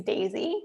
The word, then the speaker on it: Daysy: So in terms of the smart thermometer that I mentioned, I use Daisy, which is spelled Daysy.